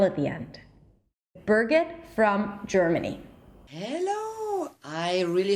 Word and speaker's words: Birgit: There is an R sound, but we are kind of lazy and we don't pronounce the R sound. So Birgit.